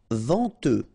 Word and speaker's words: venteux: Mal reunheureux malsin together malsin méchant pr ch méchant inhabituel utile chaud final day not pronounced venteux final x not pronounc n en vente